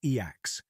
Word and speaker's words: e/acc: They call themselves effective accelerationists, or E/ACCs, pronounced EACs.